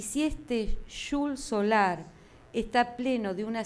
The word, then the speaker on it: Xul: explicaba: por si acaso, la ortografía de mi nombre definitiva es Xul, X-U-L, pronunciado como en alemán Xul, a la española vieja y brasilera, ya que en castellano actual no hay tal sonido de sh, y añadiendo Solari para aquí.